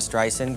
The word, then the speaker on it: Streisand: Joining us on the line from California is Barbara Streisand. Good morning. Oh, first of all, my name is Streisand, with soft S and A-N-D, like Anne, sand on the beach, okay?